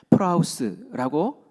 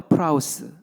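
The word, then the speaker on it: πραΰς: 온유라는 말은 헬라어로 프라우스라고 이렇게 발음을 합니다. 우리 같이 해 볼까요? 프라우스.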